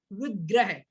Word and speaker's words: विग्रह: कुछ लोग विग्रह बोलते, विग्रह नहीं, विग्रह, वाह है, बा नहीं है।